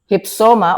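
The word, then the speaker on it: ὕψωμα: Hypsoma or hupsoma. Hypsoma, if you're going to read it outright, hupsoma, 14 minutes. Hupsoma is the pronunciation.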